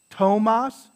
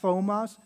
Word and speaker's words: Thomas: on there but uh if you see a th okay that's just gonna be a t so like right tomas tomas not thomas it's not a thus now it's just a tomas or kotoli kam unam